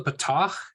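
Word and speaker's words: פתח: sound so both the patach and the kamats sound exactly the same patach is pronounced as in Bal and kamats is also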